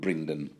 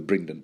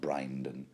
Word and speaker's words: Brynden: And it's at this point that Rob and Brynden, I'm gonna go with Brynden, the Brynden pronunciation, not Brynden.